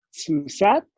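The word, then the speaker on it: סוס: ¿Alguien sabe qué es sus?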